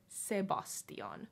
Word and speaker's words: Sebastian: ah ho se Bastian just like the English name Sebastian but you just say it in a more like finish away so say Bastian say boss Deon Sebastiaan say Bastian Oh and